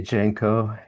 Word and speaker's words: Jenko: Do you say Jenko or Junk? Sorry, how do you say your name? I say Jenko.